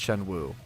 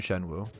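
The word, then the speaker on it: Xuanwu: The dragon mount, it's called the Shenwu mount, but it's spelled like X-U. X-U-A-N. I believe someone told me once it's pronounced Shenwu.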